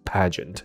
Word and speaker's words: pageant: 说，啊，那不应该念成 G-E-N-T 吗？不是， pageant 就可以了， OK， so she's a pageant winner。